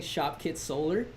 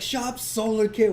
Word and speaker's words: Shop Solar Kit: He's like, "Shop solar kit, why do you say it wrong?"